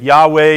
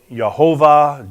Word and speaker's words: Yahweh: But anyway, if you insert those in, you can get Yahweh, you can get Yhovah, Jehovah. And that's why you've heard those different variants. All of them are really just guesses.